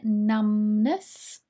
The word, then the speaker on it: numbness: at the pronunciation here numbness this b is silent like thumb but numb when you can't feel